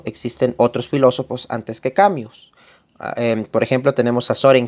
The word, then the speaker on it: Camus: un autor que es albert cambio albert cambio o albert camus como se escribe un filósofo y literato